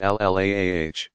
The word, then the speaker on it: Allah: the God a Lila or Allah pronounced ll aah was one of several